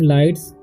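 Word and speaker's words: lights: इसे पढ़ेंगे हम लाइट्स, बताए हैं कि ये साइलेंट होता है, ठीक है।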